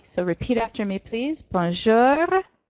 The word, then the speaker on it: Bonjour: repeat after me please Bonjour get your growly bear banjara huh it's just a light growl on the end but if you don't do it then you're not pronouncing it quite right Bonjour salut salut Bienvenu